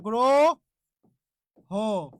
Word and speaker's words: গ্রহ: কারণে যে এখানে হ শব্দের শেষে হ থাকলে সেখানকার অ এর উচ্চারণটা কি করতে হবে ও করতে হবে হ থাকলে সেখানকার অ এর উচ্চারণ কি করতে হবে ও করতে হবে ওই জন্য গ্রো হ গ্রহ তাহলে একটু আপনারাই